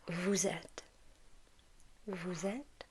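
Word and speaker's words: vous êtes: and in this case we pronounce the S because it's followed by this vowel okay so Vette Vette MH so it's like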